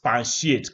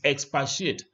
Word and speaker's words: expatiate: words like that now this word has no nend in it they were saying EXP expiate can you expansi as if you expand no no it's expatiate expatiate hasn't got an end